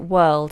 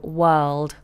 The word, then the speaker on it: world: Okay, so Stunning Lad says, with world, you pronounce it world. It rhymes with hurled. That's right. So world.